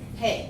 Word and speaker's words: Haa: Today we are interviewing Ha. Is that how we say it? Hay. Hay. It's pronounced Hay. It's It is. H-A-A. Correct.